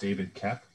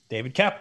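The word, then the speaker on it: David Koepp: I believe it's pronounced David Kep. David Kep, correct. It is indeed pronounced David Kep.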